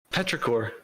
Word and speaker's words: petrichor: How do you even pronounce that? Oh. Petrichor.